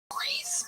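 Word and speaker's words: Rhys: Reese?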